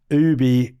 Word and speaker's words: OOOOBY: Ubie, it's spelled with four O's, B Y.